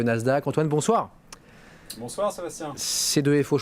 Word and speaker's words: C2FO: C2FO, je prononce bien C2FO ou pas? C2FO. C2FO, voilà. À l'anglais c'est mieux, enfin à l'américaine.